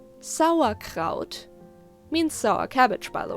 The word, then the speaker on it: Sauerkraut: jaw relaxed when making an ah and sound sour kraut means sour cabbage by the way i wanted